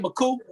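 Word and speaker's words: Makuu: Did I say that right, McCoop?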